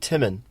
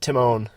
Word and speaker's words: Timman: your stuff next meet timman I'm pretty sure his name is timman but at one point I mispronounced it Timone and from then on